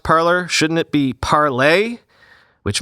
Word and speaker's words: Parler: The name was originally intended to be pronounced as in French, parler, but is often